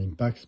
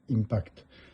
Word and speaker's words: Impax: Je dis bien Impax parce que certains disent Impact. Non, c'est Impax 68. Il faut déjà bien prononcer le mot déjà pour commencer.